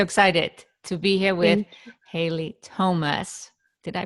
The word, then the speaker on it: Haile Thomas: i am so excited to be here with haley thomas did i pronounce that correctly yes thank you so much